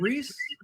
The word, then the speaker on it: Reese: We say it Reese. Reese. Yeah, like Reese's Pieces.